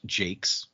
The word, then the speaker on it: Jacques: I'm a huge fan of Red, the Red Wall series by Brian Jacques, or pronounced Jake.